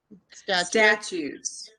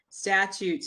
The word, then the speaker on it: statutes: starts with an s statues statutes is statutes is the correct pronunciation of that strangely spelled word jody statutes are written